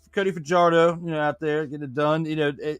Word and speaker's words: Fajardo: I mean, I'll say his name right, Cody Fajardo. There you go. Fajardo, like I was saying for half of the season last year.